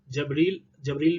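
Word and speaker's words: Jibril: Angel, जबरील भी बोल सकते हो और जैबरील भी बोल सकते हो, आपकी प्रोनाउंसिएशन के ऊपर है, दोनों चीजें कंसीडर की जाती हैं।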